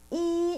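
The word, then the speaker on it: 一: by one okay so number one is e e is like easy easy e so it's easy number one number two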